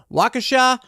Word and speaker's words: Waukesha: on july 1st 2021 waukesha is how you say a waukesha county judge